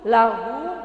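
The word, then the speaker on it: لَهُ: Nah, kebetulan dalam surat Al-Ikhlas itu lahu dibaca pendek.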